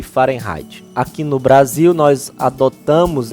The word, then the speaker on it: Fahrenheit: Algumas pessoas podem pronunciar Fahrenheit do inglês, né? Mas como ele era um alemão, eu vou chamar a pronúncia em alemão, Fahrenheit, certo?